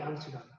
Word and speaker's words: 양쯔강: 양쯔강. 우리 발음으로 얘기하면 양자강.